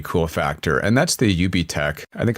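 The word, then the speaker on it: UBTech: factor and that's the UB tech I think I'll tell you pronounce it not up tech Walker I I've actually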